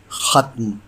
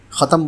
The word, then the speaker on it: ختم: ایک لفظ روزانہ میں ہمارا آج کا لفظ ہے ختم، جو درست ہے۔ عام طور سے ختم بولا جاتا ہے جو بالکل غلط ہے۔ اس کے معنی ہیں